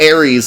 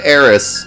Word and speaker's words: Eris: I can't believe he said Ares instead of Eris.